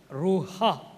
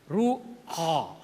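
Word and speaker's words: רוח: Spirit கிரேக்கத்தில் pneuma, எபிரேயத்தில் ரூஹா. ரூவான்னு சொல்லி நிறைய பேர் சொல்கிறத பார்த்துருக்கேன். இட்ஸ் a wrong pronunciation. ரூஹா, ரூஹா, AKH, that pronunciation, ruah, spirit.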